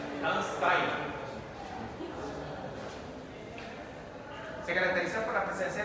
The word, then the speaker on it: Landsteiner: Karl Landsteiner, porque no es inglés. Landsteiner. Si le hago el examen oral, lo tienen que pronunciar de esa manera. Landsteiner.